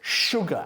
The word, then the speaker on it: sugar: Se escribe con una S, pero es sugar, azúcar.